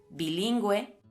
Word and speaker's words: bilingüe: Usamos la GU con diéresis precediendo a la vocal E cuando una palabra contiene la sílaba GUE. Bilingüe, cigüeña, nicaragüense, plurilingüe y antigüedad.